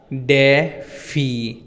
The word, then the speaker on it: DeFi: मैं रुक नहीं हूं एक्चुअल में टोपी का नाम डिफाई ही है अब बेसिकली एक